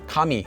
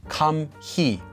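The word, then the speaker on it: 감히: you do something kami it's just pronounced as kami not kam he i want to make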